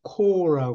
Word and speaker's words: corps: 상상만 해도 정말 이게 corps는 발음을 코라고 그래요 끝에 ps를 발음을 안 해요 하늘나라의 사도 집단 사도